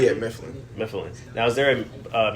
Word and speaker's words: Mifland: hear it is it mifflin if am i pronouncing that correct yeah mifflin now is there a uh meaning behind the